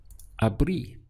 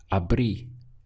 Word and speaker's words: abrí: that has an accent, making sure that your pronunciation reflects that accent. So the sound we get is abrí, abrí.